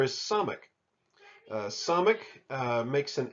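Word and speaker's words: ס: There's really no distinction here between the Samic sound and the other letter that makes an S sound. It's just an S.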